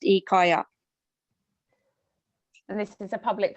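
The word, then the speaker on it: Ikya: his name yeah it's spelled i-k-y-a but it's pronounced ikaya and this is a public person yeah he's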